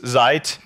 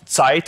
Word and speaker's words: Zeit: It does the same thing, and my favorite at the moment is Zeit. It's not Zeit, it's Zeit, because it's American, so they don't know how to pronounce German.